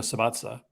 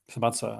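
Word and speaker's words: Subissati: And the new editor is Andrea Sabatza. Sabatsa, I think that's pronounced, and she's really good.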